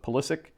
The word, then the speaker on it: Pulisic: awesome we got some polissic going on i i said his name wrong for the longest time i always called him pulsak but pulisic 10.